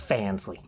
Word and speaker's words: Fansly: Let's just say I'm on a website that rhymes with schlamsy. It's Fansly.